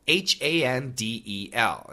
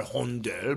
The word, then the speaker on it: Handel: Handel, H-A-N-D-E-L. Now, some people want to say Handel or Hondel, but actually the American pronunciation is Handel.